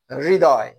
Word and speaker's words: হৃদয়: এটা আসলে রিকার, হ যোগ রিকার, উচ্চারণে হয়, উচ্চারণটা একটু আধা আধি হবে। হৃদয়।